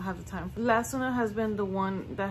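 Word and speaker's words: Lansinoh: and I have the Lassonil. I hope I'm saying it right. And no, I was not saying it right. It's Lassonil. Lassonil has been the pump that I've used since Scarlet.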